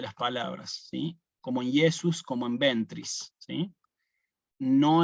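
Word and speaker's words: Iesus: ustedes en algunos misales puede aparecer acá a veces una j Sí bueno esta J en realidad fíjense que yo no la puse sino que yo puse directamente una ahí tiene que sonar como una yesus no Jesús y no Jesús sino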